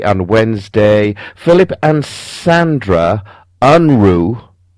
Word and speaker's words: Unruh: Philip and Sandra Unruh, that's pronounced U-N-R-U-H, Unruh, present a litany of